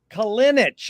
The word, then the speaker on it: Kalinich: to be here with Stephen J. Kalinich. Is that correct way to pronounce it? That is right, my friend. You're the first one, well, one of the first ones that pronounced it right.